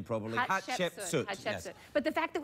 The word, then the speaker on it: Hatshepsut: Pronounce her name properly. Hatshepsut.